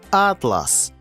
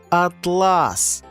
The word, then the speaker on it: атлас: мап у вигляді книжки він називається атлас але з наголосом на другий склад він перетворюється на блискучу і гладеньку шовкову тканину атлас часом у нашому волоссі з'являються